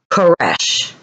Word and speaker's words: Koresh: a consuming fire okay as a name in Hebrew pronounced Koresh yes as in a